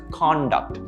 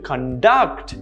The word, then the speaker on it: conduct: how to behave that's conduct as opposed to conduct notice how the stresses in the second syllable conduct where it's to coordinate